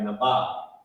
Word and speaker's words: Naba'a: It could be like Naba or Naba'a. In my opinion, I put the connected because to me it sounds like it would be connected like Naba. It would be spelled Naba'a but pronounced like Naba.